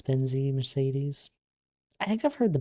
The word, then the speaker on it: Mercedes: Mercedes is pronounced with like three different soundings of E's. Mercedes.